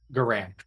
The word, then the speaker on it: Garan: garams garand's journal uh g-a-r-a in apostrophe s general so grand without the d guarant yeah like gar like